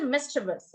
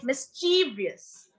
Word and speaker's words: mischievous: pronunciation of that mischevous so we cannot say mischevous okay we say mischievous so the second word